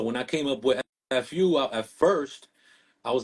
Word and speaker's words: Eff Yoo: was telling you man a lot of people mispronounce my name I think it's from the texting era you know yo is now when somebody goes yo what's good but it's my name is Fu you know what I